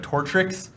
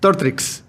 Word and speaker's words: Tortrix: A lot of people want to know what your favorite Tortrix flavor is. Is that, have you had those? So what is Tortrix? Tortrix. Okay, I obviously butchered the name.